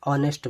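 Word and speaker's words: honest: लिखते हैं ऑनेस्ट ऑनेस्ट इसको बहुत से लोग नेस्ट पढ़ते हैं इसको हर पढ़ते हैं लेकिन शुद्ध क्या है ये एन ऑनेस्ट मैन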